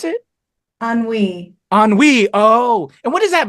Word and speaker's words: ennui: This emo character, Anui, I guess, is pretty sweet. How do you pronounce it? Ennui.